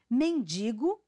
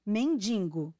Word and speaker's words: mendigo: sobrancelha e não sombrancelha mendigo e não mendingo agora quem transforma uma